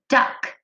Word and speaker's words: duck: That CK makes that k sound at the end of the word. D, a, k. The word is duck.